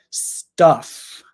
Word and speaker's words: stuff: one with the U stuff stuff stuff stuff it's a short u sound like up jump but uh stuff so